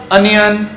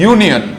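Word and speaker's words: union: The next word यूनियन, इट इज नॉट यूनियन, इट इज नॉट अनियन, इट इज यूनियन।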